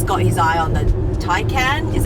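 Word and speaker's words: Taycan: friendly and jason's got his eye on the tai can is how you pronounce it the thai can um yeah maybe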